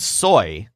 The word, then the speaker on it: soy: tall person but accidentally Joel uses the word SOI because he's thinking about the soybeans so what he actually